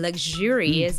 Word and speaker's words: luxurious: changes the sound right if it's luxury it's the sound sure but in luxurious it also changes the sh into J sound right mhm and what